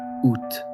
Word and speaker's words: août: French took it all the way down to one syllable: août.